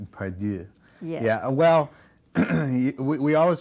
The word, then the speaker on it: Part Deux: title, because you are going to hear 9,000 pronunciations of this title. Pardieu. Pardieu. Pardieu.